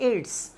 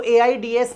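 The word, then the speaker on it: AIDS: Acquired immunodeficiency syndrome पूरा ना कह के आप कह देते हैं एड्स। इसको एआईडीएस नहीं बोला। जैसे एमबीबीएस सेपरेटली प्रोनाउंस किया जाता है। वह तो एब्रविएशन हो जाएगा। लेकिन जब आप बोलते हो एड्स तो यह क्या हो जाएगा?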